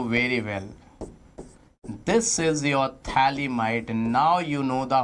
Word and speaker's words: phthalimide: Its name is phthalimide, not phthalimide. Thala. Thala, ho thala, I'm being the thala, not lala, it's thala. Be silent. Phthalimide.